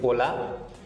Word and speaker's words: hola: in English as well hola hola so you must have heard this name ola so hola means wave okay in